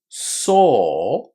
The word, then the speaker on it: saw: So in saw our lips make just one vowel sound, a long o.